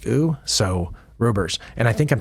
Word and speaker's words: Roebers: where people were saying that's an ooh sound like the OE in our word shoe. S H O E. It's pronounced oo. So rubers.